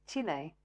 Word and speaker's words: Chile: Um, and whatever year it was, um, I remember a lot of people, you know, Chile, Chili, Chilly, that's what that's how we pronounced it.